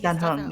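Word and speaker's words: Dan Heng: I don't know how to pronounce his name. Yeah, I think Dan Hong.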